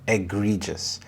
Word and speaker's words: egregious: abysmal service egregious egregious the stress is on the second syllable egregious this means outstandingly bad